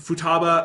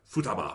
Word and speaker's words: Futaba: of them are fine like the futaba i think they drop the a a little too much but that's a really